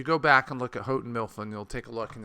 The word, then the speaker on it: Houghton Mifflin: a little bit, was I had Hufflin, or as my wife corrected me, Houghton Mifflin stock. I'm sure that's the correct pronunciation.